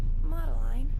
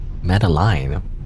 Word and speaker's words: Mattaline: Hey, Maline. Mattaline. I keep pronouncing everyone's names wrong. It's apparently when I heard the voice lines, Mattaline. That was Matteline.